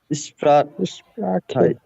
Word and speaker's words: Sprache: এটা বলেন তো আপনি, এটার উচ্চারণ বলেন তো। Acht. আখট, আখট। Oh, acht. হ্যাঁ, এটা Acht. এটা এসপ্রা, Sprache.